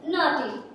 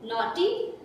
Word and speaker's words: naughty: Okay, Akshay Kumar ने बड़े एक एक्सप्रेशन के साथ बोला था नॉटी, तो इसको हम क्या पढ़ेंगे? नॉटी। NAU नो, GH silent है, पढ़ना ही नहीं है, TY टी नॉटी।